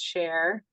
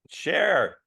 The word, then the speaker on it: Sher: It's Sher. Sher just like the singer.